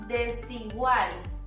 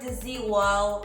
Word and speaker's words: Desigual: Is Desigual. Not deZigual, or Deesigual, is Desigual.